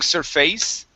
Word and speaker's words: surface: the word surface okay instead of saying surface okay and really pronouncing that Ace this is going to be a short ey sound okay so uh on